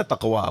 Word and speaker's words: تقویٰ: یہ جتنا گاڑھا موٹا لفظ ہے نا تقویٰ، منہ پھلا کے بولا جاتا ہے اگر صحیح تلفظ سے ادا کریں.